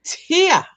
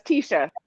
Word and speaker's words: Tesha: It's Tia, right? No, it's Tesha.